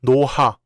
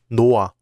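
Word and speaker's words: 놓아: So this word is not pronounced 노하, but 노아.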